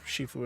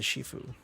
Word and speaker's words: Shifu: Uh, I ain't the Shifue. The front of your brain keeps reading Shifue as shiu. Interesting. I'm not even saying it right. It's shifu. I'm saying shifue because kung fu panda exists.